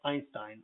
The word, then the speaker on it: Einstein: in the previous video einstein is coming from the german language and i e i whenever you encounter that think about it if uh think about its german origins or if it's uh possibly from german it'll sound like i so einstein or height